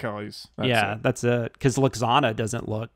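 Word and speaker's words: Lwaxana: yeah that's uh cause luxanna doesn't look luxuana looks i always say that wrong the hardest name in all the star trek yeah it's a half silent w yeah just says half of it the computer voice that's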